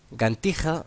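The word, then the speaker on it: Ġgantija: Gantija se pronuncia casi como gigantilla en castellano, y el nombre tiene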